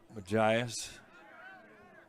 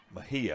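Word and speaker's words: Mejia: Nelson defenseman also Derek Majias. Series of headers there. And uh Mahia I should say. mispronounced his name.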